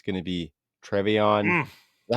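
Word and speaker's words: TreVeyon: It's going to be Trevion. Is that how you say his name? Henderson? Travion.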